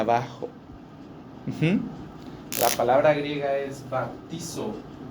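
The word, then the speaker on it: βαπτίζω: bautizar en español es una palabra que se pronuncia baptizo. Generalmente, esta palabra griega significa sumergir, hundir, ir hacia abajo. La palabra griega es baptizo.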